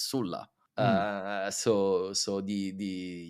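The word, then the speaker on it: Sulla: in English and Latin in Italian it's Sila I don't know why we change it but in in English you kept the the actually the the correct version which is Sula uh so so the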